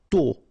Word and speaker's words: tôt: Tôt. Okay, final T not pronounced, and then this O accent circonflexe is a bit stronger than normally. So tôt, tôt, tôt.